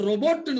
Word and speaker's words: robot: இப்ப நம்ம நிறைய பேர் ரோபோட்னு சொல்லுவோம். ரோபோட்னு ஒண்ணு இல்ல இங்கிலீஷ்ல. ரோபோ, ROBOT, ரோபோட் அல்ல, ரோபோ. ஓகேவா?